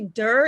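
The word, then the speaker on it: Doerr: right no it's actually der it rhymes with fur okay it's yeah german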